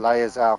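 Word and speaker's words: Lae'zel: excruciating or gestation, it will turn us into Lazar, mind flayers? or however you It's a pronounce process Lazar. known as ceramorphosis. Lazelle. I And think it's let me actually assure pronounced you, Laerzell.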